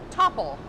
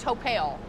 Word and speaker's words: Topple: wrong the whole time this is top topple not topel we were trying to be fancy and trying to get like a little accent or something topel make him french